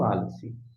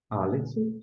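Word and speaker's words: א: Aleph, não tem som.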